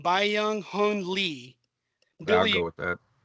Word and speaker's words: Byung Hun Lee: Byung Hun Lee.